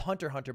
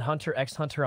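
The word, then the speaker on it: Hunter × Hunter: It's called Hunter Hunter, by the way. Syuna, you're not supposed to pronounce the X. Come on. Oh. Oh my god. Yeah, I pronounced it Hunter X Hunter on purpose to test.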